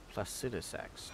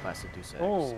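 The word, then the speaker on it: Placidusax: how to say it placidus a not placidus ancient dragon blessing thanks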